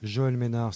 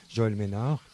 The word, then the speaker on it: Mesnard: À l'ordre de Joël Ménard, ça s'écrit avec un S, Joël Mesnard avec un D à la fin, Joël Ménard.